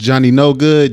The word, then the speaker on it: Jonny Knogood: It's your host, Jonny Knogood, JONNY, KNOG, O and add a D. Lite Pole. The I-O is silent.